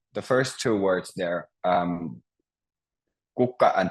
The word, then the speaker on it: kukka: So if you'll try to pronounce kukka. Kukka. Kukka. Yeah, perfect. So you always stress the first syllable, kukka.